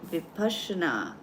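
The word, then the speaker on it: Vipassana: who haven't tried it it's called vipasana it's spelled like this but it's called vashna and one of the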